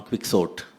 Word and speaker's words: Quixote: I said, I'm sure it's Quixote. That is how it is pronounced.